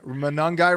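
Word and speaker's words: Monangai: Manungai rhymes with fun guy.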